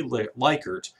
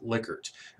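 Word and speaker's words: Likert: I know it looks like it should be lyker but it is actually pronounced liquer I had a colleague at Louisiana State University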